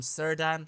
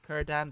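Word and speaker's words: Círdan: A lot of people in the first episode told me that I've been pronouncing him Sirdan. His name is actually Kurdan, because the first letter actually that's in the appendix is at letter C, and it says that K and E always become before C.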